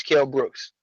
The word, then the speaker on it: Kell Brook: Why do Americans say Kell Brooks? It's not Americans, it's just Bo. He just likes to butcher people's names. What's his name then? Kell Brook.